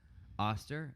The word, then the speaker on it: Oster: Vanessa Dyer says, P.S. Oster is pronounced with the O sound of oats. so it's Oster.